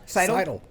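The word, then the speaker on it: Scytl: Seidel.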